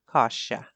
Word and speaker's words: coscia: Did you catch my mispronunciation of the word for chicken thigh? I said it twice, and from the look I got, I realized I must have it wrong, and I corrected it to Coscia.